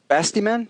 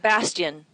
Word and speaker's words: Bastion: Bastiman? Bastion.